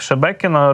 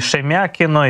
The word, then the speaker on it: Шебекіно: Це таке містечко, так, Шебекіно. Російські пропагандисти не знають, до речі, як правильно вимовити назву цього міста. Називають його і Шемякіно, і Шмєкіно.